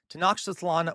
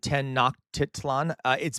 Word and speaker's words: Tenochtitlan: is how I was taught to pronounce it. I could be wrong. I do not speak Nahuatl. All right. So Tenochtitlan was then.